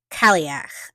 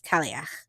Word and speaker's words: Cailleach: So in Celtic traditions, winter becomes once again a goddess by the name of Cailleach. I think that's how you pronounce that. I think it's Cailleach.